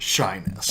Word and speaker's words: Shiness: Well, every time I heard it, it was pronounced shyness.